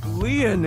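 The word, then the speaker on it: Lien: stay by your side my name leon is spelled l-i-e-n in french leon means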